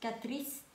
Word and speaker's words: Catrice: Catrice. Ang hirap na pronounce. Katris lang, nahirapan ako.